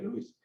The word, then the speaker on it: Lewis: mencionemos lewis pero como ya sabemos que lewis se pronuncia louis le vamos a decir